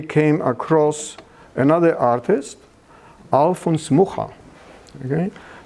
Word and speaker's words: Mucha: And then we came across another artist, Alfons Mucha. Okay? They pronounce his name Mucha.